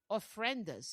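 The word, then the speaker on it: ofrendas: They build altars which are called orphrenas.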